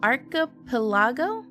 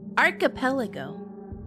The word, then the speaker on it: archipelago: Even though this case has shocked the arapelago ar how do I pronounce that? I need I need I need something to pronounce it to me. Aripelago. Archipropelago.